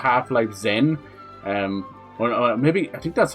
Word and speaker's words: Xen: It's meant to be called Half-Life Zen. Or maybe, I think that's how you say it. It's Xen, not Z-E-N. But it's meant to be like that special word.